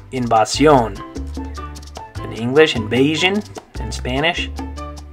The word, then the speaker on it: invasión: This next one, in English we'd say invasion. In Spanish, you're going to say invasión.